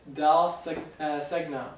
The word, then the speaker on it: Dal Segno: It's Dal Segno.